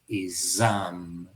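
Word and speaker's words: essaim: Son aguijonazos de un enjambre, en francés exam, un enjambre que se pronuncia igual que S1, S1, S de señalar uno.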